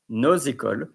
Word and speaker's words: nos écoles: So you don't say nos écoles, you say nos écoles, écoles, nos écoles, because école begins with a vocal, with an accent, of course, like with an H, like just for the example, like our helicopters.